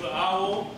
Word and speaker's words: Avvo: This is the official pronunciation of Avvo.